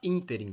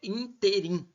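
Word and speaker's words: ínterim: acentuação Elas adoram utilizar interim Por quê a primeira impressão é que a palavra é interim e na verdade é interim essa palavra aqui ela é uma proparoxítona se você for separar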